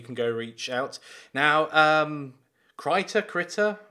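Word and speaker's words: Krita: Now, Critter? We've had some debate on how to pronounce that. I say Critter, he says Critter. K-R-I-T-A.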